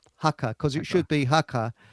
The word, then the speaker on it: haka: She She's got a little bit of a pronunciation problem. She has karma instead of pharma. That's right. The hacker. Haka.